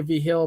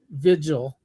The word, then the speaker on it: Vigil: Yeah, it also has Tim Vill on it, which uh I say I say V Hill, but he says Vigil.